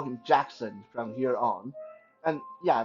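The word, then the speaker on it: Jaxxon: going to call him Jackson from here on and yeah that's not spelled like Michael Jackson that's spelled like j-a-x x o n Jackson okay so who is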